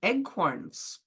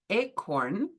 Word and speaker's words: acorn: First of all, why are they called eggcorns? Many English people mispronounce the word acorn and say eggcorn instead, and that's how they got their name.